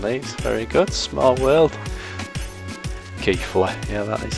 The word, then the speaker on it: Keighley: Keighley.